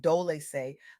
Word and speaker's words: Dolce: This is the Soft Girl Era, hosted by me, Dolce, pronounced Dolce, like sweet softness whispered in French.